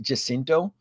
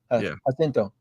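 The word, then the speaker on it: Jacinto: hear people pronounce it jinto when it's really meant to be pronounced with Spanish tongue hinto manto right I think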